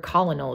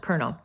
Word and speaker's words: colonel: the rank of Colonel remember that weird word colonal is pronounced Colonel on the second day